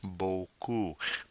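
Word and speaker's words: beaucoup: not Boku all right Boku P at the end of the word silent unless there is an e to force its pronunciation just like with t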